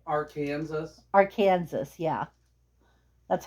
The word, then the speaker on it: Arkansas: If you live in Arkansas, you notice how I pronounce that state's name?